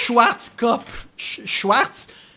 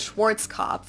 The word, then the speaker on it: Schwarzkopf: Schwarzkopf.